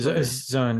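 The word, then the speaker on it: Zeihan: Zion. Right Zion, yeah.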